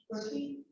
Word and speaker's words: Berkey: John Berkey? Sorry, if I got your last name wrong. It rhymes with turkey.